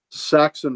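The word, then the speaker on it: Sachs: Saxon Violence. Saxon Violence. There but we go. But it's spelled S-A-C-H-S.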